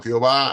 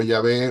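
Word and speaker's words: יהוה: algunos lo pronuncian como Jehová algunos lo pronuncian como ya ve usted le puede poner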